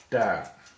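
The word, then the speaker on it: 大: The next character is da. Da. It's a 4th tone, as you can see by the falling stroke there over the da, and it's pronounced as in the first half of Darwin, for example.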